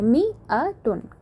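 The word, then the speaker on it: مائة: Note that in मियातुन द अलिफ इज़ not pronounced. पहली बात इसकी स्पेलिंग की करते हैं। इसमें जो ये अलिफ है, इसको हम प्रोनाउंस नहीं करते हैं। इसको प्रोनाउंस कैसे करते हैं? इस तरह से मी अ टुन।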